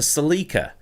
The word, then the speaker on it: Celica: but outwardly it's a Celica and yes that's how it's pronounced in Britain I remember the ad